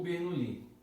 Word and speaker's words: Bernoulli: a gente vai trabalhar distribuição de Bernoulli ou Bernoulli como também se pronuncia uma ideia geral é